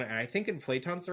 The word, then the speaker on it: inflaton: thing y just no just like inflation except no I between the T and the O but there is I'm